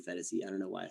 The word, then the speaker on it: Phetasy: I pronounced it Phetasy. And then once I heard it right, I'm like, oh, okay, so I'm a jackass. It's obviously Phetasy.